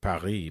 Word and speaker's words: Paris: You should say it Paris, because that's how it's said in French, you know?